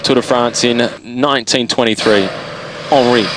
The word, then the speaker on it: Henri: Henri, I should say, for the French pronunciation.